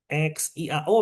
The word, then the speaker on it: xiao: X XIAO misalnya. XIAO ya bacanya Xiao.